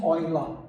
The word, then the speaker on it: Euler: Eu estou dizendo a pronúncia em português e em alemão mesmo, Euler, né?